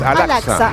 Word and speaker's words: Al-Aqsa: Recién me estaba ayudando a pronunciarla, es Al-Aqsa.